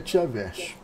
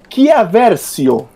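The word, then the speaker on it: Chiarvesio: Andrea Tiaversio. Vocês vão... Peraí, deixa eu apenas corrigir a pronúncia do nosso amigo Harry Potter italiano, que é Chiaversio.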